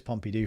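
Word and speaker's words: Pompidou: of pompy do and apparently it is pompy do Frank's helping me out with the correct pronunciation there okay it's pompy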